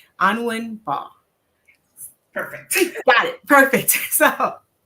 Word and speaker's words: Anwin Mbah: Today's topic is Profit Pathways, Mastering Business Wealth with, and correct me if I'm wrong with the pronunciation of your name, Anwin Mbah.